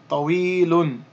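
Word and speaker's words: طويل: So we have a ta with a fatha, ta, wa with the kasra, we, tawi, and then the ya with the sukoon is elongation, tawi, and then the lam with the dhammatan, lun, tawilun, tawilun. Drop the un at the end, and we would simply say tawil.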